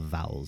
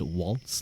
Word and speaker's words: VALZ: are all part of Vowels. That's their group. It's spelled V A uh V A L Z, but apparently it's meant to be pronounced waltz. Like you know the waltz.